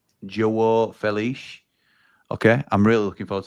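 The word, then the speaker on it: João Félix: Um, Mory says, "And Xiao Felix, but it's pronounced Jo Felich."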